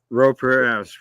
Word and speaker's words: Pereira: Dave, and I'm gonna mess up pronouncing his last name. Pereira. Pereira, correct.